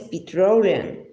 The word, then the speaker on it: petroleum: Entre la R y la R española, pronunciado con la punta de la lengua curvada hacia atrás y sin llegar a tocar el paladar, podemos nombrar la letra R como OR.